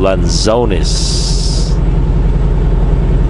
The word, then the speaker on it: lanzones: One of the fruits I also miss is called lanzones. Let's see if I can spell it for you.